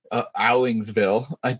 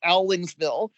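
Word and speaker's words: Owingsville: Everyone out of town thinks it's Owlingsville, but the locals pronounce it Owlingsville.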